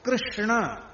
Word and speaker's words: कृष्ण: अब देखो, कृष्ण ये शुद्ध उच्चारण, कृष्ण ये शुद्ध उच्चारण है।